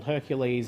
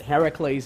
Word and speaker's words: Heracles: that you know the the Greek hero Heracles yes he'll call Hercules in Latin but Heracles in the Greek I think that anything that ends in clas we should pronounced as Heracles and I have a